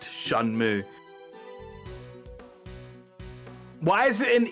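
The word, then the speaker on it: Shenmue: I just remembered that Tim Rogers said that shenmu is actually pronounced shanm why is it an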